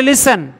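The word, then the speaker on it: listen: বাংলাতেও আছে ইংরেজিতেও আছে জ লেখার সময় লিসেন উচ্চারণে লিসেন লেখার সময় অফটেন উচ্চারণে অফেন তাই বাংলায় লেখার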